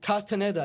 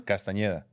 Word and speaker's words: Castañeda: So I said David Castaneda. It's not correct? It's it's fine. That's like the English pronunciation? Yeah, you need a tilde at the end and the ñ. Say it again? Castañeda.